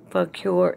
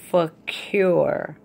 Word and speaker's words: fakir: And I did do something extra for you to make you understand what a fakir is. This is how you say it. Fakir is a Muslim Sufi holy man or woman who lives on only what he or she begs for.